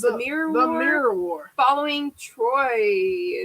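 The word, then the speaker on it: Troi: the mirror war following troye is how you say her name it is troy look at that i'm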